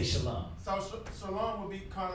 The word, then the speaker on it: shalom: Oh brother, you're not saying it right. Technically you want to say shalom. Peace to you. You know what I mean? But it's not wrong to say shalom.